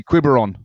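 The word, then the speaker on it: Quiberon: So if you're in France, go down to quibon. Spell that. Qu U I N V E R O N. Uh we're two weeks out. Australian. We say Quibberon.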